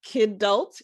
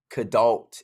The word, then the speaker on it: kidult: And I know that in your work, you talk about this reawakening the kidult. Am I pronouncing that Yeah, the kidult.